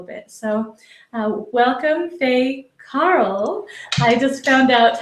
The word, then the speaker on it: Cahill: Fay a little bit so uh welcome Fay Carl I just found out how to pronounce your last name the right way so